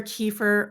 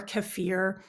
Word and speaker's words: kefir: address the pronunciation because it really can be be pronounced either kefir or kefir and you'll hear it in different ways from different people and it's all totally fine it's the same thing